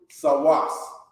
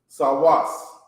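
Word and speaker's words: סוס: represented by the horse how do you say horse in Hebrew sawas sawas okay sawas sawas is horse okay if you have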